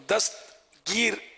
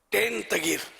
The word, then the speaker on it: دستگیر: کے معنی آتے ہیں۔ اور دستگیر یہ درست تلفظ، اور دستگیر، ٹین تگیر یہ غلط تلفظ، ہمارے یہاں یہ دستگیر